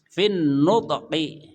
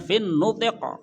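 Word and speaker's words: في النطق: Ya, sehingga nanti kalau antum baca dengan model diwaqaf-waqafkan gitu ya, maka bacanya fin nutiq gitu. Bukan fin nutq. Sulit, to-nya qalqalah, qafnya gimana? Fin nutq kan sulit lah ya. Fin nutiq gitu aja udah.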